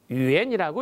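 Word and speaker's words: 远: 우리말 한자 멀원자를 간체자로 이렇게 쓰고요, 유엔이라고 읽어줍니다.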